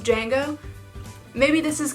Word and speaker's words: Django: It has a D in the middle, like Django, but it's pronounced Django.